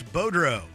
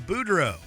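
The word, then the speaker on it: Boudreau: mispronunciations during the segment the reporter said Bruce bodro instead of Buro touit instead of Rick tet and most famously kuks instead of Canucks we guess these are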